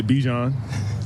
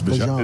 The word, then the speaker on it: Bijan: How you pronounce my name is Bijan for everybody that's out there. I know a lot of people say Bijan, but it's Bijan.